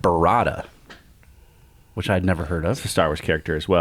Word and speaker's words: burrata: ahead and then they have this thing called burrata which I'd never heard of the Star Wars